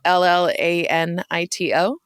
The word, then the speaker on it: Llanito: So, hey, everybody, now you know about Llanito, which is it spelled with 2 L's? Yeah. Yeah. So Llanito.